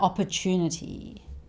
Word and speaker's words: opportunity: Now opportunity. Chew is the stressed syllable here, and it sounds like chew, like when you're chewing food. Chew. So this is opportunity, opportunity, opportunity.